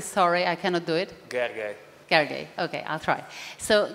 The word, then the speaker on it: Gergely: So your name would be, pronounce it correctly, sorry, I cannot do it. Gergely.